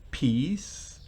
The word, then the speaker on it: piece: Realmente se pronuncia prácticamente igual que peace de paz, pero en ese caso la pronunciación es diferente. El peace de paz es P-E-A, mientras que este es P-I-E.